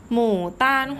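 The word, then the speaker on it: 牡丹: ค่ะ ดอก โบตั๋น ภาษา จีน ออก เสียง ว่า หมู่ ต้าน ขวา หมู่ ตาล ความ หมู่ ตาม ขวา แปล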